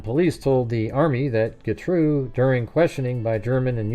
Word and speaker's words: Getreu: The Army said Gatro. Um I think they pronounce it Gatru though.